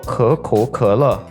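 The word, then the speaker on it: 可口可乐: 코카콜라는 중국어로 커코커러, 한자 그대로 읽으면 가구가락이라고 합니다. 뜻은 입의 즐거움을, 즉 코카콜라 발음과 비슷하고 동시에 뜻도 매우 좋기 때문에 일석이조의 효과죠.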